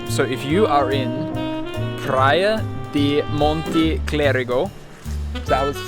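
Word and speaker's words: Praia do Monte Clérigo: So if you are in Praia da Monte Clérigo, is that what you said?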